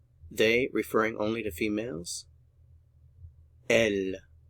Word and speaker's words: elles: referring only to females L notice we don't pronounce the final consonant L they L they L